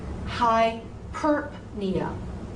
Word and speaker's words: hyperpnea: So take that P and separate it from the N sound. Separate them. So orthopnea, orthopnea, hyperpnea, hyperpnea. Now again, these two words actually have two acceptable pronunciations. So the other pronunciation is orthopnea, orthopnea, hyperpnea, hyperpnea. I don't like that one.